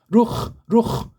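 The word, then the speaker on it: רוּחַ: 중에 한 토막인지 아무튼 루아흐 이 발음되고 아자는 우리는 필요 없다고 했잖아요. 그냥 루흐 그렇게 발음하는 것이 정확하고 정석입니다. 루흐.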